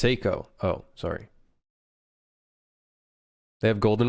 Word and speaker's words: Seiko: It's pronounced Seiko.